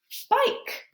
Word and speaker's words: bike: It's a long I because of Sneaky E. B-I-K, B-I-K, B-I-K, bike.